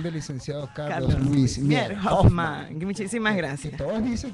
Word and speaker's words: Hoffman: Todos bajo la dirección del licenciado Carlos Luis Mier Hoffman. Muchísimas gracias. Que todos dicen que tiene acento en la segunda F.